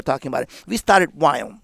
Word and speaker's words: Viome: Viome. So how do you spell that? Yeah. V-I-O. Is it two M's? M-M-E? One M. V-I-O-M-E. Viome. It's like biome, like gut biome, but Viome.